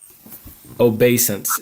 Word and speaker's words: obeisance: Obeisance is obeisance is how it's pronounced.